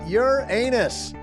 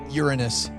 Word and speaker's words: Uranus: And today's a big day because we're talking about Uran anus. I don't think you pronounce it that way, dude. I think it's Uranus.